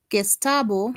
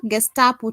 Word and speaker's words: Gestapo: And I also see Baron says looks like Gestabo if I'm pronouncing it correct. Ah Gestapo to me.